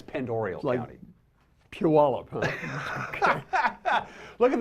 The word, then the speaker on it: Pend Oreille: You said Pend Oreille. It's pronounced Pend Oreille. Oh, I beg your pardon on that. People make that mistake all the time. Always make the mistake. Yeah, it's Pend Oreille County.